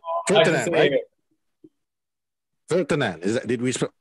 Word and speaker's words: Virtanen: live from Finland, Jere Virtanen. Did we pronounce it right? Virtanen, right? Virtanen. Did we pronounce it right? Yeah, in here we say Virtanen, like really monotone.